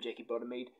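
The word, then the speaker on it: Jackie Bodimead: That's how you say her name, Jackie Bottomede, on vocals.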